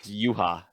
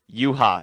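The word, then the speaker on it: Yhwach: it's like you ha ba is how it's pronounced what wait what yuha yuha is how you pronounce it oh and then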